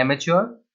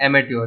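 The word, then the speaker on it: amateur: Saying एमेच्योर है, एंड एमेच्योर word का pronunciation दो तरीके से हो सकता है। एक है एमेच्योर, जो कि अमेरिकन वे ऑफ प्रोनाउंसिंग है, और दूसरा है एमेट्योर, जो कि ब्रिटिश वे ऑफ प्रोनाउंसिंग है। दोनों सही है।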